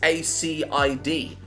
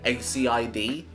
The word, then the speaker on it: acid: confusing to read cuz it's a c i d it's like Aid and I didn't know how to say it so I would just say aciid and then my parents told me they're like you're a idiot it's acid I